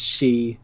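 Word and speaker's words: 四: are pronounced Japanese yeah cuz I know four is she yeah she yeah okay and this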